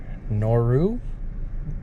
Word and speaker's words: Noru: be giving you a comprehensive review on the noru that's how you pronounce it uh motorcycle shoe so i just